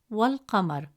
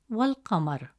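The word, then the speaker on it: والقمر: Hamzat al-Wasl, making it wal-Qamar. Instead of pronouncing the alif hamza sound, the sound flows directly from wa to al-Qamar, wal-Qamar.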